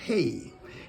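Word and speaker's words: ה: heart say number five this is pronounced hey teach me oh Lord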